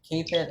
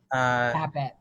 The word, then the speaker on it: Kapit: We have Lewis Mitchell and Dylan Kapit. I've never said your last name, Dylan, so let me know if I mispronounced it. Kapit.